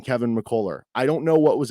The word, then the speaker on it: McCullar: here Fran pronouncing Kevin mccoller I don't know what was up with it why did he keep calling him Kevin mccola like it was like a ah at the end of it is is or missing